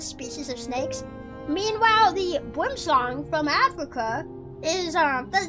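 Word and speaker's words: boomslang: Meanwhile, the boomlong from Africa is um that's boom slang. Apparently, it's pronounced boomlong and it's only pronounced boom slang in America because of course Americans can't pronounce it right.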